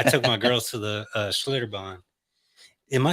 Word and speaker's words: Schlitterbahn: I took my girls to the Schlitterbahn.